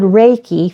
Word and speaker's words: Reiki: a zillion different pronunciations easy way to remember it is think about a ray of sunshine because it's it's a